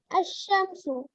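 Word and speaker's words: الشمس: Example: Al-Shams, the sun, pronounced Ash-Shamsu.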